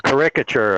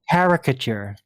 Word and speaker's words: caricature: A caricature, a cartoon version of what he's trying to explain. You mean caricature? Well, he pronounced You it put the syllable in the wrong Exactly.